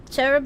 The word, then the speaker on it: cherub: wow Watson I'm scaredy cherub is pronounced with a hard C sound of a Hebrew carob begins with the Hebrew letter calf which is a hard Continental k a sound equivalent to the Greek letter Kappa but cherub sounds cuter